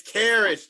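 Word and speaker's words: Caris: It's Karras, Trey. Karras? Okay, Karras. Okay. Karras LeVert. So how you spell it?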